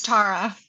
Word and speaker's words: Tarra: Is that how I pronounce it? It's Tara.